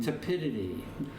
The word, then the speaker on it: tepidity: Tepidity. Yeah. It kind of rhymes with stupidity.